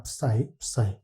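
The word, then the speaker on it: ψ: 푸사이. 식으로 이렇게 쓰고 이제 푸사이. 사이라고 읽는 경우도 있는 것 같은데 거의 대부분 푸사이라고 읽는 것 같아요.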